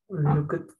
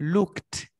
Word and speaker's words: looked: Por lo tanto, esta ed se pronuncia como la T. T. ¿Cómo se pronunciaría entonces el pasado de look? Look at.